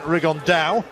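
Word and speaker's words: Rigondeaux: That's coming up in about 3 weeks, and Tete's talked about fighting Rigondo, or as he's correctly pronounced with the Spanish accent, Rigondao.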